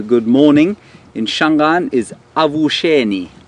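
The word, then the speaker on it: Avuxeni: In Shangaan is Avusheni. Avusheni. It's A-V-U-X, which is pronounced sh, E-N-I. A-V-U-X-E-N-I, Avusheni, meaning good morning.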